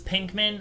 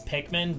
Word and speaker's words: Pikmin: legit it's not that I thought it was Pinkman I know it's Pikmin but like I didn't know